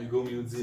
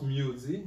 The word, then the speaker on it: Mudie: Hugo Moody, de son propre prononciation.